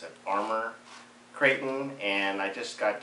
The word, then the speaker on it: Arrma: my Arrma, or as their site says, this pronounce it Arrma Kraton, and I just got done doing a